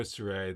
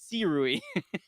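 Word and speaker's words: Sirui: people can't pronounce this name. It's Su Rui. Su- well, Sorry, according to I even did them, it wrong. It's Si Rui. But they, no. as a company, they pronounce it wrong.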